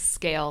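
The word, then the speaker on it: Sgaeyl: I think it's scale, like a dragon scale.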